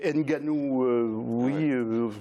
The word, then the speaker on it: Nganou: C'est Ganou. Ouais. Oui. Oui, Nganou, il paraît qu'on ne prononce pas le N, mais il faut le prononcer quand même.